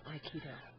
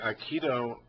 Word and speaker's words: Aikido: So, what is the origin of the term Aikido? Okay, Aikido... I'm saying it wrong. Aikido.